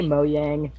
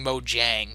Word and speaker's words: Mojang: the mo uh Mojang did you almost say moyang I that's what I always called it for years because that's the actual sweetest pronunciation but I've had people yelling at me Mojang so whatever I don't